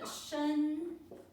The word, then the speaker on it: 身: And Xin, the next one is Shen. Shi, En, Shen.